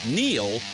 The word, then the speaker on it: Neil: It's no coincidence that Neil rhymes with deal, because that's something you can always count on with the leader in tires and auto repair for nearly a century.